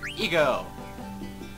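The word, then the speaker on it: Eiko: Okay, in English it's pronounced Aiko, but in, if I put it from English to German, and I just typed that in, and in English it was Aiko, but in German it was Eco, so I'm pronouncing it Eco.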